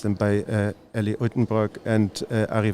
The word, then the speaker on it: Uitenbroek: I think I mispronounced them, by Ellie Uitenbroek and Arie Versluis. Please correct me. You're very close. All right. It's the Versluis and the Uitenburg, but it's all right.